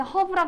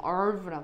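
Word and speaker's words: herb: 이거 얘들아 외국 사람들한테 허브라 그러면 몰라. 이거 H 묵음이야. 얼브라 그래. 우리나라는 허브로 통하지만 얼브라 그래.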